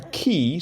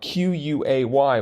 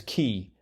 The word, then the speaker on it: quay: or something like that that can only be pronounced as key even though it's got that a in there and it it's yelling